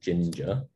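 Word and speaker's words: Jinja: uses a templating language called ginger just spelled with J as if you Google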